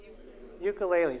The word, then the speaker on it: ukulele: I've changed your sensory target, and now I can ask you to say it properly, according to the way they say it in Hawaii.